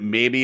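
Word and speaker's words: Maybee: yeah everyone thinks that like we're saying that maybe it's in Michigan no the name of the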